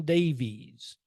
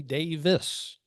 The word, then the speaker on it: Davies: his name as Steven Davies when the correct Welsh pronunciation of his name is actually Davis a common native Wales